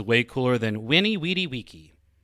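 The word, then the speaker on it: veni, vidi, vici: sounds way cooler than winnie weedy wiki which is the technical latin way of saying it but you know just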